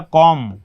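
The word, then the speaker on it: calm: तो बाम, इसको बाम पढ़ेंगे, बाल्म नहीं, ये पढ़ा जाएगा बॉम, ये पढ़ा जाएगा कॉम, कॉम ब नहीं, कॉम बॉम।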